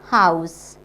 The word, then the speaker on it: house: But this word we pronounce as house. House. It means this first letter as is not silent here. We have to pronounce house.